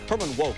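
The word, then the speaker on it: Herman Wouk: every benefit you can Herman woke is how that name is is usually pronounced that was a little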